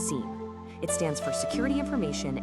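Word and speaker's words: SIEM: That's sim, and it's pronounced seam.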